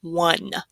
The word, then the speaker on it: one: So that O is going to make a W sound, even though there's no W in this word.